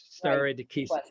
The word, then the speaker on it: stare decisis: As you know, the Latin stare decisis, stare decisis is the pronunciation.